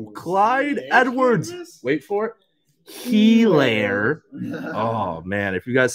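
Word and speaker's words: Edwards-Helaire: Helaire. Oh, man. If you guys saw that Thursday game. Oh. Someone gave him the pronunciation.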